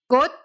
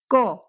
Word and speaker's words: 꽃: The first word ends in the letter ch. And rule 1, the rule of unreleased consonants, tells us to pronounce that final consonant, since it's coming at the end of a word, as an unreleased D sound. So instead of 꽃, we say 꽃.